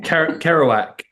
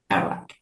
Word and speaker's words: Kerouac: Tell me again how to pronounce it. Kerouac. Kerouac. Jack Kerouac, yeah, sort of rhymes, doesn't it?